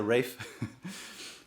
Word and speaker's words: Rafe: A gente acompanha Rafe Height, mas se pronuncia Rafe, que é um escudeiro